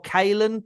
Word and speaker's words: Caolan: pronounce it is it colon or Kalin like what is what is it that's not bad if you think of the word you know kale the food k-a-l-e yes I am